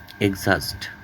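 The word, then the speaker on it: exhaust: silent H কিছু শব্দে অনুচ্চারিত যেমন ভিকল এইচ এর উচ্চারণ নাই যানবাহন যেমন এক্সজাস্ট ক্লান্ত করা এখানেও এইচ এর উচ্চারণ নাই কেয়াস সি এইচও এস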